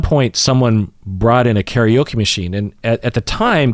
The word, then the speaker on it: karaoke: And I don't know about you, but the first 20 times I did karaoke, or karaoke as it's more accurately pronounced, were very important to me.